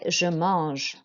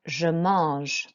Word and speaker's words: je mange: Okay, so an AN is an en sound, and the G is a j sound. So écoutez et répétez, je mange. And again, je mange.